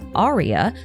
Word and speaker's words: Alaya: And in other Hoyoverse titles like Hokkai Gakuen 2, there is a character named Alaya, a name that can also be pronounced as Aria, who is also a